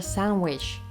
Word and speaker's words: sandwich: Instead of sandwich, we hear sandwich. That's pretty crazy, right? So, what is going on? Well, first the disappears between two consonants.